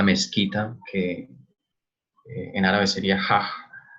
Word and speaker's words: Hajj: Y a su vez la Meca es la mezquita, que en árabe sería Hajj, que es como H aspirada a JJ, es el nombre específico del no del templo, de shrine.